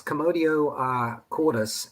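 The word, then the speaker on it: commotio cordis: So is this commodio cordis? Is that how you say it? Yes, commodio cordis, and which actually is Latin, and cordis is the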